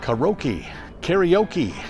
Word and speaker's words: karaoke: Karaoke, I thought. Maybe not. The Japanese, who invented the whole thing, pronounced it karaoke.